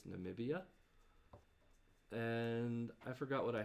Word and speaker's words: Namibia: cacnia because it was the wrong number of syllables because i thought it was nambia but it's namibia and i forgot what i had here but